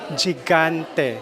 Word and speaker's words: Gigante: Yes, we're with the reigning Universal Woman 2024, Maria Gigante. Gigante, correct. Yes, kasi nami-mispronounce ko, Gigante, Gigante, Okay lang Gigante.